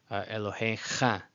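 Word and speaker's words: אֱלֹהֶיךָ: the syllable ends there, because there are words where a vowel is attached to it, and for example, Elohecha, and you have the kamatz right under the chaf sofit.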